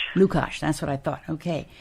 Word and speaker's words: Lukach: It's pronounced Lukach. Lukach, that's what I thought.